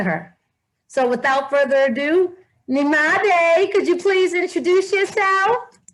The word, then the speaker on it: Nyemade: When you first see it, it looks a little intimidating, but it's just three syllables, Nyemade.